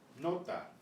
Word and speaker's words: nota: Nota, nota, nota. The tongue is right behind the upper front teeth. There's no puff of air.